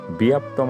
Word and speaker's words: ব্যাপ্তম: পরবর্তী শব্দ হচ্ছে ব্যাপ্তম এই ব্যাপ্তম শব্দটি কে আমরা সংস্কৃত শুদ্ধ উচ্চারণে ব্যায়াপ্তম আসলে করে থাকি তো আসলে কিভাবে ব্যায়াপ্তম